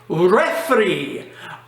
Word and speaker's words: refri: Instead of pronouncing all that, sometimes you can say refri. R-E-F-R-I.